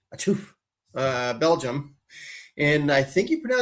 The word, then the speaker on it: Chouffe: So the brewery itself is located in Chouffe, like you sneezed, Chouffe.